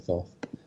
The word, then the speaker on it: Thoth: It's actually pronounced Toth, but it also sounds silly to me to call it Thoth.